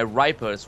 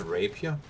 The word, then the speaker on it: rapier: They are just so thin and they are to my mind they are just made to Isn't it pronounced rapier? Rapia rapier. Yeah.